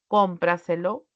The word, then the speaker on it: cómpraselo: pronombre lo es otro Al momento de pronunciar esta palabra yo voy a enfatizar en la sílaba con al separarla así entonces